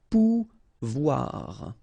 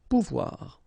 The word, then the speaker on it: pouvoir: sound OU, okay, and when you combine this O and I here, you get the sound OUA, okay, so pouvoir, pouvoir.